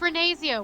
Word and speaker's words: Ria: pronounce bro leave people it's just Ria what do you mean